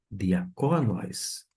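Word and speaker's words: διακόνοις: Diaconóis. A pronúncia tá sendo ajustada por conta da sílaba tônica diaconóis, ou seja, da onde vem a palavra diácono em português.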